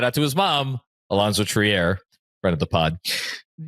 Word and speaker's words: Trier: And the only thing I will always remember about that conversation is I always called him Alonzo Triier. Other people called him Trier and I asked her and she's like it's Triier.